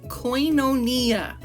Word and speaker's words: koinonia: That word is pronounced koinonia, according to pronunciation online.